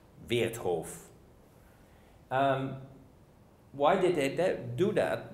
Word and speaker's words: Vertov: as being Dziga Vertov, which is the German way of pronouncing Vertov, Vertov.